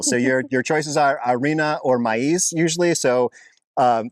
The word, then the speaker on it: arena: of AA yep repeat Arena Arena Arena sand yes sand the E sounds like an a I guess and the i s sounds like an e we say Arena Arena